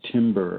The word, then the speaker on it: timbre: The information in the timbre of the voice. Go ahead and look up timbre. It's not what you yell when a tree is cut in the forest.